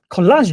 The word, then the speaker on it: Collage: next guest his name is michael manning the college don collage don that's the right pronunciation for it he uses collage to talk